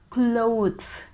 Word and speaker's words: clothes: is a bit tricky we pronounce it as clothes clothes we get this slight t h sound at the end clothes clothes and also the s sound that's why it's a bit tricky to pronounce it's clothes clothes right